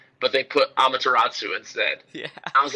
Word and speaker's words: Amaterasu: Is it Amaterasu?